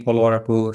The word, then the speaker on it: Polavarapu: So just to give a little bit about me, so my name is Polavarapu.